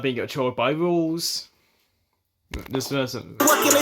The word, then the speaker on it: Rouxls: not being controlled by Rouxls. This person. What can I say? Rules are meant to be broken. Rouxls' first name is pronounced the exact same as the word rule.